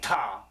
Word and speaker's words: Ptah: This particular book, Ptah, or I pronounce it Ptah, but people just say Ta. I'm like, if the letter is silent, it should be invisible too.